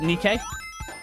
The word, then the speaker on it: Nike: We call it Nike, but I know you call it Nikke, but I don't know if that's the Greek pronunciation or the American pronunciation.